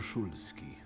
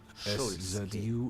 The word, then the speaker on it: Szulski: My name is Szulski. Szulski.